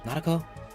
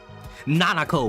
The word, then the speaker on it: Nanako: Persona 4. Nanako. My fault. Nanako. Not Nako. Nanako.